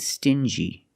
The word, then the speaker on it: stingy: differently example dingy and stingy these two words have the regular n Sound plus the J like juice together stin G together stingy or din G together dingy this wall is very